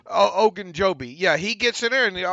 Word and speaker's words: Ogunjobi: And Larry, how do you pronounce Larry's last name? Ogunjobi. Ogunjobi.